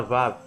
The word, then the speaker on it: Vav: A letra Vav é a sexta letra do alfabeto hebraico. Pronuncia-se Vav e tem o som de V, como em videira.